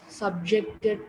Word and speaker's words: subjected: So here you saw as the stress shifts from first syllable to second syllable, the verbs and nouns changes.